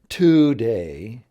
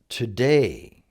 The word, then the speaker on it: today: In other words, it's not today, it's today. Today.